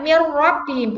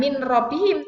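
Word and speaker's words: مِن رَّبِّهِمْ: Ya, dibacanya mir rabbihim, bukan min rabbihim, tapi mir rabbihim.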